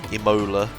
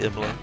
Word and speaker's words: Imola: The text-to-speech lady pronounced it Imola instead of Imola. I told you that is a British way of pronouncing Imola.